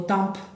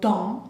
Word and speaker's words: temps: Vean la pronunciación, la P, no digo temps, no, digo temps, bien nasal, porque tenemos la E y la M, en, bien.